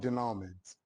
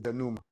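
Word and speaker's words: dénouement: It's spelled denment but it's not denowment. The pronunciation is denoma is the last stage in the story.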